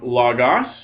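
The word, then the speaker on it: λόγος: And then notice the form logos. That's the accent it always wants to have with that acute on the second syllable. Well, it's going to keep it all the time. Because the rule about accent is if the last syllable goes long, you get an acute accent on the second last syllable.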